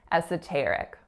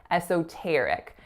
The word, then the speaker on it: esoteric: The winning syllable is on that third, esoteric. Another way that you might hear this word pronounced is with an O sound on that second syllable. So instead of esoteric, you may hear esoteric.